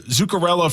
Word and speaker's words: Zuccarello: Zuccarello, Faber, and Terrace.